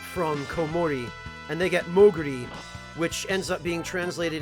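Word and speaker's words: モーグリ: The Japanese words for bat and mole combine to form the portmanteau that is Moogle, or Moguri, as it's pronounced in Japanese.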